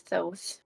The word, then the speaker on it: Thoth: I got you yeah I looked it up it is those okay all right both